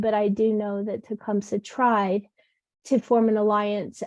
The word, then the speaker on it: Tecumseh: And I believe his name is Tecumseh, is how you say it in Shawnee. Oh, But do you mean Tecumseh?